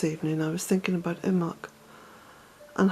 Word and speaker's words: Imbolc: It's 8:30 here at Bealtaine Cottage in the west of Ireland, and driving back from Enniskillen this evening I was thinking about Imbolc and how close we are to the festival.